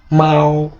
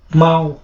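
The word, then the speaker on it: 猫: বিড়ালের চাইনিজ হচ্ছে মাও মাও। মাও এখানে বাংলা উচ্চারণ মাও।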